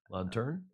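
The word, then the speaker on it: lanterne: know what the lantern how do you say l-a-n-t-e-r-n-e in French on turn yeah yeah so there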